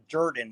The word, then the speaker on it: Jordan: pronounced jordan it's actually my last name is actually pronounced durden the o is it's kind of like when you say word yeah jordan yeah it's